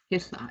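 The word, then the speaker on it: hihla: Hithla, H-I-H-L-A, H-L before vowels.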